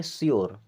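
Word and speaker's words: sure: क्या हो गया प्योर इसी प्रकार इसे पढ़ेंगे शोर इसे पढ़ेंगे क्यर क्या पढ़ेंगे क्यर यानी यू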